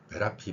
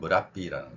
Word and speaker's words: Merapi: 지금 만약에 MERAPI라고 적어놓고 전 세계인들이 어떤 발음을 하느냐 하면 메라피 발음을 많이 할 겁니다. 그렇지만 실제 발음은 무라삐라는 거죠.